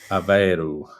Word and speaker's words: Aveiro: Most words ending in O are pronounced like ooh, as in boo. Aveiro.